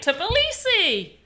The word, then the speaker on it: Tbilisi: How to pronounce... Copy paste. Tbilisi. Tbilisi. Tbilisi! I was saying it right! Tbilisi!